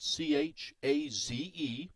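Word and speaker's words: Chaze: First name spelled C-H-A-Z-E, pronounced Chaz.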